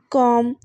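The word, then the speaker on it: comb: examples देखें इसकी तो कॉम सीओ एम बी इसके स्पेलिंग्स जो हैं इसमें बी आ रहा है लेकिन एंड पे बी जो है वो साइलेंट है इसी तरह से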